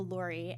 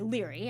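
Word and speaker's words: Laoghaire: Jaime, when he was married to Lori and uh or sorry, Liry, I mispronounced that.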